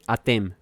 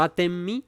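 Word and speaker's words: אתם: Ustedes en hebreo se dice atem. Atem. ¿Sí? Atem. No atem mi, sino atem. Así se dice nosotros, vosotros, ustedes. Atem. Nosotros, anagnu, se dice. Anagnu, nosotros. Atem, ustedes.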